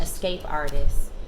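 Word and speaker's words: esqapeartist: me I'm on Instagram escape artist but Escape is spelled Esq because my initials are SQ so it's like a little play on phonetics why you yeah however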